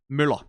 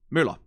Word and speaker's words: Møller: Then there is a name, which is based on the profession of being a person who runs a mill, which is pronounced differently. Møller. Møller, Møller. Those are two different words.